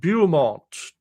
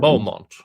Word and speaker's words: Beaumont: Beaumont. You guys can't pronounce French spellings. That clearly says Beaumont if you have the French spelling, but no, Beaumont.